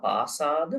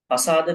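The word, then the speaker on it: pasāda: Now, some of you could not pronounce this Pali word because there is another Pali word called Pasad. Maybe you are remembering that Pali word. Pasad. It's not Pasa. Pasada means impression, trust, faith.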